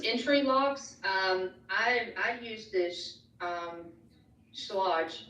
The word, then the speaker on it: Schlage: I use this Schlage. I want to say Slag because that's our mentor. So I always mess up the pronunciation.